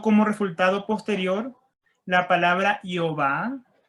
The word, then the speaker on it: Jehová: Porque la I en los idiomas latinos terminó siendo una J, pues se pronuncia G, Jehová. En la H pusieron una E, en la V pusieron la A, y así quedó Jehová.